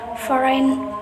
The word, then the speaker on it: foreign: The letter G will become a silent letter when there is an N after it in a word of, for example, design, sign, foreign, campaign. Number four, the silent N.